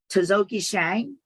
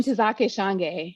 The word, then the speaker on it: Ntozake Shange: She's one of my favorite authors, Tazoki Shang, I think is how you say it. It's her first name. Ntozake Shange. Yeah. Correct.